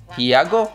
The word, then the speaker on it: Hiago: Hiago or Hugo? H-I-A-G-O. It's not Hugo. That's H-U-G-O.